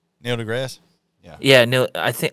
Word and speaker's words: deGrasse: interesting uh you've heard Neil Degrassi Neil deGrasse yeah yeah no I think I thought it was the grassy oh the E is silent I always thought it